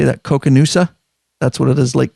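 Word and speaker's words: Koocanusa: Coconoosa?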